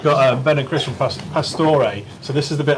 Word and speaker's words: Pastore: So we've got Ben and Chris from Pastore. So this is the bit I used to always say to Lee, I've tried a really good beer. It's from Pastore.